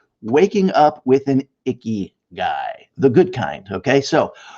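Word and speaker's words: ikigai: a word called ikagi which we pronounce icky okay the icky guy so icky which roughly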